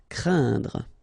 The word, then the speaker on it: craindre: as well, and then it will be pronounced like un, so keep in mind that it goes in your nose, so you don't hear any N when I pronounce it, and then C plus R will produce the sound cr, crain, craindre.